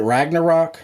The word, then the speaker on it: Ragnarok: ragnarok uh how do you say is it ragnarok yeah you got it okay um i actually